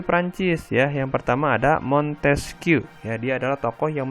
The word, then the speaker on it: Montesquieu: Jadi kalau Montesquieu dibacanya Montesquieu ya. Montesquieu. Bukan Montesquieu, bukan.